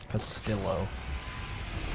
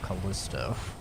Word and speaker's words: Callisto: it's Castillo protocol that's what Jordan called it pastillo instead of Callisto Jordan's such a wacky guy you know Castillo